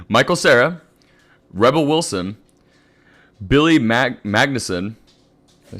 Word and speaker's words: Magnussen: Michael Cera, Rebel Wilson, Billy Magnussen.